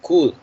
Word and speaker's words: could: Can the past tense is could. Could. Sorry. Could. Could remember that L not pronounced in this word. Just the could.